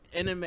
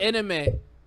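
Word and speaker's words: Aminé: How do you pronounce his name again? Anime. It's not anime. Because I want to call him anime. No, he did. It's anime.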